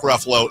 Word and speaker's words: Ruffalo: it comes to actors whose last name rhymes with Buffalo it's true story I was actually paying attention I know you were Mark Ruffalo is what about Johnny